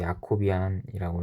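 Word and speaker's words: Jacobian: 그리고 제가 야라고 읽는 이유는 J가 모음이고 아에서 모음을 하나 붙여주는 그런 효과를 내기 때문입니다. 그래서 야코비안이라고 읽으시고요.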